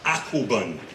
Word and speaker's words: Akoben: One, the theme, if you look at your program in what is the left upper corner, you'll see a word named, pronounced AKOBEN, A-K-O-B-E-N.